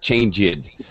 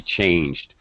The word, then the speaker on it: changed: is not correct uh changeed I changed the channel on the TV not correct it has to be changed so I say this